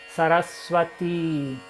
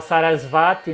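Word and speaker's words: Sarasvatī: s também sua sarati, então correta pronúncia correta. Sarasati, o i é longo, o último i. Sarasati. Então, muita gente fala sarasvate, né? Sarasvati também não tem esse ti carioca, né?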